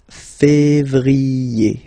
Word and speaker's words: février: Then comes février, février. Okay, remember when you have this accent aigu on the top of then you pronounce it e.